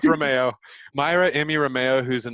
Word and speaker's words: Reimao: your last name i've always pronounced it romeo but you pronounce it okay let's go with romeo myra amy romeo who's